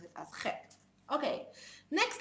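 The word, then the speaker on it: חית: And in the modern Hebrew language, the het is not pronounced as ha het, but it's pronounced as chet.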